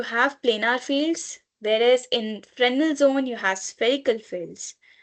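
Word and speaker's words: Fresnel: So you can either call it as final or but the literal pronunciation is frenal.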